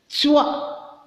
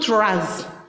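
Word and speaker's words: trois: Again, toi, not tras. Some of you will pronounce it as tras.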